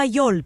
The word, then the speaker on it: Yol: Let's focus on why York becomes Yol. In Spanish, words don't end with a K sound, so that final K can get dropped for easier pronunciation.